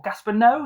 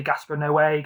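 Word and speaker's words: Gaspar Noé: So to this is Gasper Noi or Gasper. No. Yeah, sorry. I think Ash from Hoporn Horror said it's pronounced Gasper. No. I used to say Gasper Noey, Gaspan Noi, I don't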